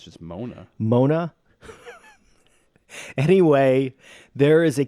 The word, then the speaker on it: Moana: and am I pronouncing that right? I think it's just Mona.